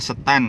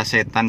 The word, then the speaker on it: Setan: Jadi yang baru gabung, kita berada di Desa Setan ya. Dari banyak orang yang baca setan juga enggak apa-apa, tapi di sini bacanya setan.